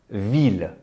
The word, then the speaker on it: ville: Ville, ville. Unlike other words ending in ILLE in French, which sound like I, such as fille, feuille, bille, the LLE are vocalized.